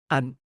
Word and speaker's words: อัน: อัน Pronounced like one but shorter, is optional but powerful.